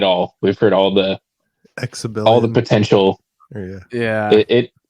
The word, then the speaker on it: Xebellian: earlier, I was like, just rhyme with rebellion, right? You'd think it's that simple, but it's not. Xebellian Rebellion. Just Yep. take the R off, put a Z on it, and you got it.